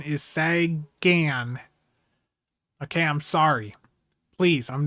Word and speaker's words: Sagan: just, you know, the way that I naturally pronounce it is sagen. I'm sorry about that, but I understand that the the correct pronunciation is Sagan.